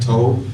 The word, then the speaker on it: Tobe: But I also have been listening to artists, I'll make sure I say it right, Tobe, T-O-B-E.